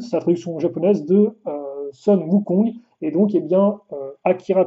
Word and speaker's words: Sun Wukong: Alors attention, c'est une prononciation pourra 10 000, mais c'est Sun Wukong, et forcément, il a